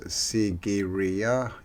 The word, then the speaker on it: Sigiriya: now the first place we're looking at is sigiriya fort did i say that right before sigiriya which means lion rock so it's pronounced sigiriya yep it's an ancient rock fortress located in